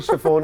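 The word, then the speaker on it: chiffon: I mean English में इट्स शेफॉन, शेफॉन, लेकिन okay. Urdu में इट्स शिफॉन। तो लैंग्वेज तो आपको पता है कि डिफरेंट लैंग्वेजेस में, जिस तरह टर्किश हो गई, उर्दू हो गई, बहुत से वर्ड्स हमारे टर्किश से भी सिमिलर हैं, लेकिन हम उसको प्रोनाउंस थोड़ा डिफरेंट तरह करते हैं। सो वही जिस उसी यानी अगर हम शिफॉन कहें तो वो भी ठीक है, बिल्कुल ठीक है।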